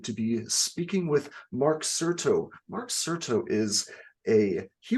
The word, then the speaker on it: Certo: some time with me I appreciate it uh Certo I have that pronounced correctly I assumed but that is correct